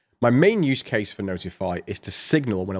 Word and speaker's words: ntfy: Last but not least, we have ntfy, which I'm going to pronounce as notify to save everybody's sanity.